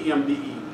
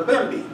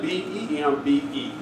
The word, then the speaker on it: Bembe: the Hispanic faith, well, they were calling it the EMBE, but the Westerners and the Nigerians call it a Bembe. So you'll find in my book, I spell it B-E-M-B-E, Bembe, because it is an actual Bembe party when you go to a drumming party.